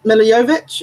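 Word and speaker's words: Milla Jovovich: behind the Resident Evil movie franchise and milla milla yo vich is that how you pronounce her name yes so know that she's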